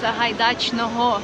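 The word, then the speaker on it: Сагайдачного: So this street is called Sahaidachna, you said? Sahaidachnoho. Sa ha da chnoho. Yeah, close to it.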